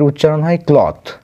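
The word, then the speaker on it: cloth: এল ও টি এইচ তাতে কিন্তু শেষে ই থাকে না এর উচ্চারণ হয় ক্লথ ঠিক আছে ক্লথ মানে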